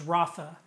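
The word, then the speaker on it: Rapha: to pronounce it but the way we phonetically sound it is Rafa so it's Yahweh Rafa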